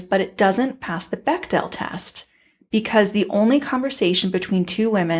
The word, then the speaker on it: Bechdel: ahsoka yes okay i'm a little embarrassed i pronounced it bechdel test for most of my life and last week i found out it's pronounced bechdel test so i'm mortified but the bechdel test